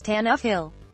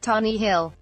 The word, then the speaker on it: Tannehill: he said tan Hill it's pronounced as Tannehill not Tommy Hill you're welcome moving on